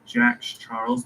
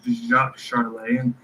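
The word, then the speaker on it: Jacques Charles: And if I didn't look up the pronunciation for this man's name, I probably would have said Jack Charles, but it's Jacques Charlay.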